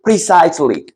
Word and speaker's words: precisely: 직관적인 믿음을 갖는 거 자 발음 조심하세요 프리 아니고 precisely 정확한이라는 뜻이죠 그다음에 in